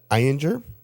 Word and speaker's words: Ayinger: The number 1 rated German beer was the Eyinger. It's spelled Ayinger.